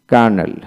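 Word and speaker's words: colonel: এল বি স্যাব তারপরে কার্নেল কার্নেল সি ও এল ইউ এন এল ক্যানেল ক্যানেল মানে কর্নেল এখানে এল উচ্চারিত হবে না অর্থাৎ সি ডব্লিউ এন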